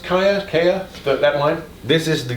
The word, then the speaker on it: Giya: Is it pronounced Kaya? That line? This is the Giya line. This is the Giya line.